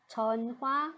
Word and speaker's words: 전화: It always makes weak sound or no sound. No sound. So we can just ignore it. This one, no sound. Okay, no sound. Then the pronunciation gonna be changed a little bit. So this one, 전화, we can read it as 전. This consonant and this vowel, we put them together. Read as 놔.